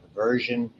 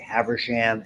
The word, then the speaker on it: Haversian: People have different ways of pronouncing this next name. I was told Haversian. Some people say Haversham. It's okay. It doesn't matter. Okay.